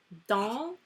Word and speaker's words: dans: Dans, because do you pronounce the S? No.